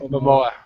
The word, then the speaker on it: Momoa: Momoa.